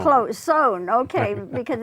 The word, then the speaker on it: Sohn: Close, Sohn. Close, Sohn, okay, because it's an unusual spelling. It's S-O-H-N. Right. And we want to say son or son, but it's Sohn.